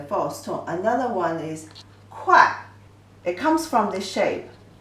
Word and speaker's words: 会: The pronunciation is 快, the false tone.